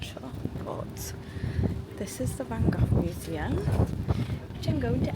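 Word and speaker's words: Van Gogh: I keep calling it Vangok, but it is Vango, isn't it? Everyone's saying Vango and I was like, I chose the wrong pronunciation.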